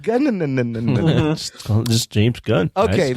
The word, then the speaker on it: Gunn: It's pronounced Gunn.